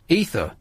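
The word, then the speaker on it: Aoife: friend EA is here right now with me ether ether like not the drug ether it's an Irish name spell it a o i f e like a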